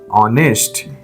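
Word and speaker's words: honest: एन ई एच टी ऑनेस्ट आप यह word भी जब सुनते हैं या बोलते हैं आपके कान में क्या आ जाता है ऑनेस्ट ये एच लगता है है ही नहीं और शुरू कौन सा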